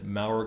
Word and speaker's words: Mower: Mower. Okay. Yeah, it looks like Mower, but it's pronounced Mower. Got I it.